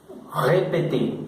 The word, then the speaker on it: répété: quitar esa consonante, esta T viene automáticamente a pronunciarse como si tuviera en el español este acento. Répété, solo que pues nosotros